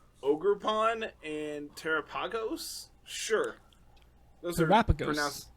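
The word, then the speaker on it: Terapagos: Sure, those Terrapagos. Those are Terrapagos. pronunciations. Like Galapagos.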